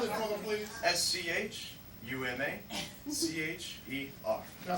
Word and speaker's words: Schumacher: Spell it for them, please. S-C-H-U-M-A-C-H-E-R.